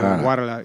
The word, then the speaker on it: Guadalajara: Guadalajara. You don't pronounce the G. Yeah. No, yeah. It's like guacamole. Yeah, like guacamole.